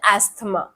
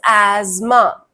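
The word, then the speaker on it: asthma: नॉट एस्थ। ठीक है? ये सबसे ज्यादा कॉमनली मिस प्रोनाउंस्ड वर्ड है।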